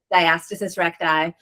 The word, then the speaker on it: diastasis recti: Diastasis recti. Um she's from Chicago, but um I've also heard doctors say diastasis recti or diastasis recti.